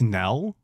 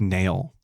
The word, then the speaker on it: knell: Is it Death Knell? I always thought it was Death Nail. Was I saying it wrong the whole time? Yes.